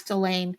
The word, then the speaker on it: Ghislaine: That's the Ghislaine. name. So it looks like Ghislaine, right? So the Yeah. H is silent and the S is silent.